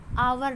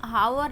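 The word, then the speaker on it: hour: सी is dash an आवर late. यहाँ पे मैंने पिछले क्लास में बताया था कि कुछ जगह एच जो होता है साइलेंट होता है, तो उसको हम हावर ना पढ़ के आवर पढ़ेंगे।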